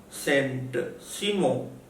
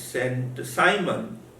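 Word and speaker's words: Saint-Simon: was deeply influenced by french philosopher sent simon in english he is pronounced as saint simon and agast or agasta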